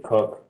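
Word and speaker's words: Koch: My name is Cook. Last name is spelled K-O-C-H.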